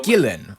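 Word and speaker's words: Ghislaine: Ian Maxwell is Gillan possibly the Gillan. Okay. So uh Gillan is a pro is apparently the proper pronunciation.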